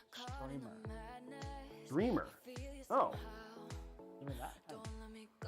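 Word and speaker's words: Strimer: Apparently Lian Li said it's pronounced streamer.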